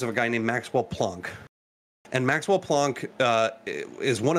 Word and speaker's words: Planck: And yeah, I'm also happy that his name's Planck and not Blank, because it's pronounced the way it's fucking spelled.